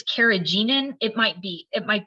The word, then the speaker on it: carrageenan: what did you call it cartidium carriage it's carrageenan it might be it might be said like